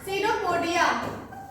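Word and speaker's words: pseudopodia: हैं क्या बोलते हैं सिरोपोडिया यहां पर देखते होंगे पी लिखे हैं हम तो कभी भी कंफ्यूज मत होइएगा यहां पे पी क्या है साइलेंट है सिरोपोडिया लिखा हुआ है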